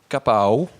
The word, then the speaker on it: KAPAW: À l'image de Capao, je le prononce bien, c'est comme ça ?